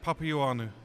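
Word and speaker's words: Papaioannou: It's just Papianu. Papianu. Simple. Okay, butchered that one.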